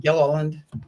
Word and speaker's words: Gilliland: Did I pronounce that correctly, or is it? Yeah, Did I need a? Yeah, Gilliland.